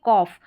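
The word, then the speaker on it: cough: अब यहाँ पर देखें, जैसे ये है, यहाँ पर OUGH यही पैटर्न है, इसको कॉफ करके पढ़ेंगे, ठीक है, कॉफ।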